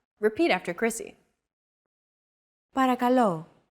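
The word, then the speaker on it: παρακαλώ: was pretty spot on the p r k and l sounds are practically identical to English don't forget that words get accentuated in Greek so make sure to stress that final syllable with the accent mark repeat after Chrissy parakalo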